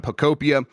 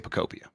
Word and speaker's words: Pokopia: First First thing I want to ask you though, John, is how do you say Picopia? Uh we Picopia. Yeah, right? It's like dystopia, right?